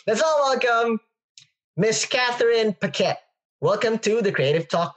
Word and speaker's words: Paquette: our previous episodes the challenge for me to pronounce her name all right let's all welcome Miss Katherine pette welcome to the creative Talk podcast hello hello